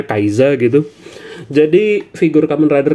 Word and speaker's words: Kaixa: kalian bacanya segue bacanya setelah gue tahu ternyata bacanya kaiza gitu jadi figure Kamen